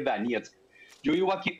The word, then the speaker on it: Donetsk: Donetsk se llama, se escribe Donetsk, se lee Donetsk.